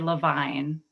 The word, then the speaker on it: Levine: to point out that my last name is actually levine um you know it's